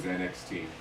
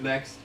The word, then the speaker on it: NXT: was allowed to use NXT like they couldn't just call it next like they like they pronounce it next they don't call it NXT they call it next so maybe that's the